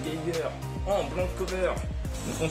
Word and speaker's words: Geiger: Ensuite, Geiger en VO, ça se prononce Geiger, en blanc cover, donc on s'en fout.